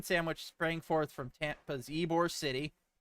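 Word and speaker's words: Ybor: sprang forth from Tampa's eore City yes that is in fact pronounced ebore I don't get it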